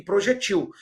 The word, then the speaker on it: projetil: O projétil, uma paroxítona terminada por L, e projetil, uma oxítona não acentuada, tá bem?